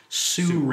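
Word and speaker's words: SURUI: couple of years called, it looks like it's called Suru or S-U-R-U-I. I didn't know how to pronounce it. Well, until I guess actually what? asked somebody. It's pronounced Sure.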